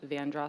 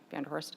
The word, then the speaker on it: Vanderhorst: And the Vanderhorst family, I know it is pronounced Vandross Street in Charleston, but historians say it would be pronounced Vanderhorst.